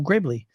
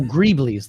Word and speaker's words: greeblies: and he's like oh that'll be a cool Gravely how do you pronounce that let me know in the chat I'm looking over here oh greeblies there you go Brian appreciate it it's called